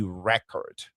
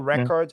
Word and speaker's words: record: verb is going to be on the first syllable. In this case, it's going to be record, right? So, a criminal record and then to record something.